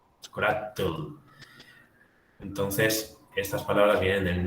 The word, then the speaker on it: chocolatl: Fijaos que hay un cierto parecido entre el náhuatl y aquí esto se pronuncia como tomatl, chocolatl.